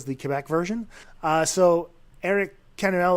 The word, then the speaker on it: Canuel: Is it Camwell? Canuel. Canuel. Yeah, Canuel. You can say it like that if you want.